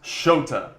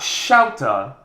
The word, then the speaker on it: Shota: what's sparking it is shota is pronounced shota it is not shouted as you know some casters said like 40 of the time it's just not the guy's name it's like you're calling